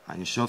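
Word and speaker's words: אין סוף: Einshof, c'est la correcte prononciation de sans limite en hébreu.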